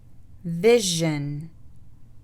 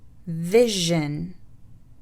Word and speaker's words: vision: SION تلفظ جن إذا سبقت بصوت أو بحرف صوتي، والحروف الصوتية اللي اتكلمنا عليها في البداية. Explosion. Explosion. Vision. Vision.